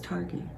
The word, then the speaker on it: Targhee: Is it Targhee or is it Target? I don't know. I think it's Targhee. Okay, it's Targhee. Well, in my Alabama Southern accent, it's Targhee. I truly believe it's Targhee.